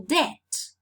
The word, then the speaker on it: debt: This is the same case with receipt, receipt, where letter P is not sounded, or debt, where letter B is not sounded.